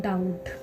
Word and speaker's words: doubt: आपको पता है कि हमें बी के बाद टी आ रहा है, तो यहाँ पर हमारा भी बी लेटर साइलेंट होगा, यानी कि डाउट।